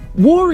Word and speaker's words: Woore: It's exactly the same as saying war as in World War I or World War II.